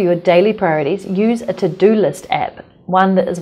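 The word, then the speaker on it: Teux Deux: Use a to-do list app. One that is one of my favorites is called To Do, but it's spelled T-E-U-X-D-E-U-X, which is actually French.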